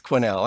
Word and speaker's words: Quesnel: I was absolutely mortified, because as soon as they said that, I'm like, oh, of course it's Quesnel.